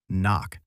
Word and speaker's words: NOC: NOC, pronounced knock.